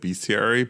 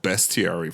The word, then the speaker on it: bestiary: I know it was unintentional cuz you you you just moved when you said biaryi, but I'm going to call it bestiary from now on cuz it's pronounced best.